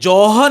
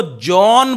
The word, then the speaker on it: John: ये जॉहन नहीं बोलना है आपको, जॉन बोलना है, H साइलेंट करके चलेंगे आप।